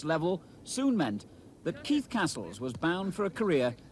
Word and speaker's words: Cassells: and their successful run in the fa cup castles and that is how it's pronounced has already scored 20 goals this season